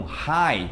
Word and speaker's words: high: Mesmo vale também para algumas vezes a dupla GH, principalmente quando tem um som de vogal antes, que é o caso de light, ou então high. Tá vendo que tem GH com som de vogal antes? Então a gente não fala esse G e nem esse H.